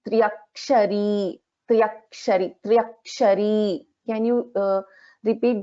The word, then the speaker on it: त्र्यक्षरी: In the first part, actually, this we won't pronounce this as Trayakshari. This is Triakshari.